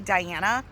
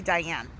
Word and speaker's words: Diana: So instead of calling me Diana, she calls me Diane.